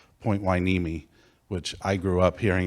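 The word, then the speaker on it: Point Hueneme: and he talks about I always remember Daniel says point wiimi which I grew up hearing it pronounced Point Hanami but he says point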